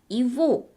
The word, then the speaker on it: его: 여기서 주의하실 점은요. 예보, 그의 것이라는 단어에서 스펠링은 예고라고 쓰여 있지만 발음은 이보, 이보라고 하셔야 합니다.